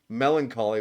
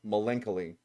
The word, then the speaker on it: melancholy: I went to I went to college with a guy who thought melancholy was pronounced me malenoly. I was like I don't think that's how it's pronounced buddy.